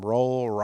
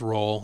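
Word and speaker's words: Roehl: And then Tyler, I don't know how to say his last name, Rowell. I think it's Roll, yeah.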